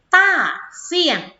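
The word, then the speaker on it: 大象: ป้า เซี่ยง นะ คะ ต้า เสียง อะ อ่าน ออก เสียง ตาม คือ ซิ ต้า เซี่ยง ขอ ได้ อย่าง นี้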